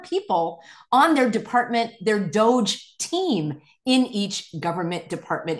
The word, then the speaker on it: DOGE: If they're going to call it Doge, DOGE, Department, D for department, O for of, G for government, and E for efficiency, Doge.